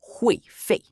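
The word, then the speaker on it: 会费: The seventh word is hui fei. Pronounced hui fei.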